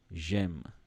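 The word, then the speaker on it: J'aime: pronunciation I guess so instead of saying they basically want you to say J Jem um and this you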